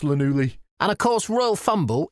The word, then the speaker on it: Llanelli: Actually, it's, I think you'll find it's pronounced Llanelli.